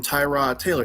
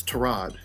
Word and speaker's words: Tyrod Taylor: like how um the the football player we all call him Tyrod Taylor it's trod you know it's it's trod Taylor it's trod Taylor I thought it